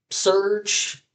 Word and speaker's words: Surge: and Surge. The The name rhymes with the word Purge.